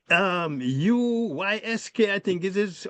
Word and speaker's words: Usyk: Usyk, Uysk, I think is how you pronounce, how it's spelled. And it's Usyk.